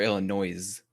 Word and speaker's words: Illinois: based in illinois yep it's illinois or illinois oh no s no no illinois the s is silent yes i heard that